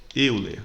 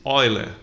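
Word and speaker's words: Euler: falando olha e e algumas pessoas podem estar achando estranho essa pronúncia porque já deve ter visto que o nome do matemático é escrito assim eu ler só que eu li é um ex-jogador da seleção brasileira e o matemático escreve-se assim mas pronuncia-se ó ele tá bom entendido porque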